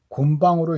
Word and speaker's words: 곤방: 그래서 이게 일반적으로 곤봉이라고 읽는 한자를 여기에서 굳이 곤방으로 읽는 것은 무에도보통지 언해본의 이를 중국 발음을 따라 곤방이라고 했기 때문이다 라고 하는데, 그러니까 곤방하고 이 능장하고는 약간 차이는 있는 것 같습니다.